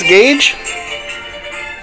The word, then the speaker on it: Gauge: little bit scared that I would say your name wrong. It's Gauge. It's Gauge. Yeah. And so we let Tommy do it. I wanted to say Gauge.